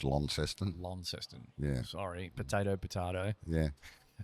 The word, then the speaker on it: Launceston: Yeah, it's pronounced Launceston.